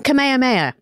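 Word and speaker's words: Kamehameha: because there's a king am I pronouncing him right kamahamaha King kameha Maya it's King kameha Maya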